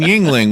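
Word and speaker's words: Yuengling: then ap a beer and then Yingling which is spelled why you Eng LAN J jingling yeah she loves that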